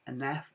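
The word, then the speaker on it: Naef: I seriously suggest be on the lookout for any NAF, F is pronounced like that, N-A-E-F wooden puzzles.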